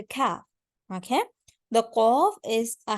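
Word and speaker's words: كاف: And then we have the letter kaf. When we pronounce the letter kaf, it should be with a K sound to make it the lighter voice.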